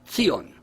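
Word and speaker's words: ציון: these words in Hebrew Zion is pronounced ton a term that most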